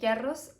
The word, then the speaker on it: Yarros: It sounds weird when I say Yarros. I know that's like the real pronunciation, I guess, because I think it's a Spanish surname, but it sounds weird